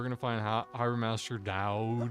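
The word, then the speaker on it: Doud: going to Harbor Master Dow Dow d o u d Dow that's how you say it right Dow it's this way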